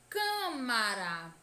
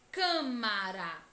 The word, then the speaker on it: Câmara: deve ser fechada Câmara Câmara a pronúncia da sílaba tônica deve ser fechada com sozinho para dentro Câmara certo turma a turma